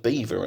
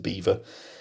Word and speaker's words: Belvoir: I believe it's pronounced Beaver actually although it looks like a French word there of Belvoir but I think the locals do pronounce it Beaver um if you're from